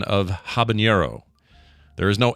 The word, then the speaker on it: habanero: automatically foreignizing and stuff where but uh yeah habanero apparently is the uh uh is the actual pronunciation and I've been calling it habanero for as long as I can think of